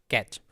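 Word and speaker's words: cache: Next है हमारा कैच। कैच भी बोलते हैं, कैचे भी बोलते हैं।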